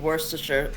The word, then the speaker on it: Worcestershire: As long as he was cooked with Worcestershire, I'm fine.